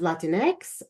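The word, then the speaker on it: Latinx: Hispanic populations and so I add the letters a for Latin X to pronounce it as Latin X or uh the the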